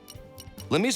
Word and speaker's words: Limmy: I keep thinking like limes and I like merge it into Limmy and then I get limey, which makes him sound British, but that's not what it is at all.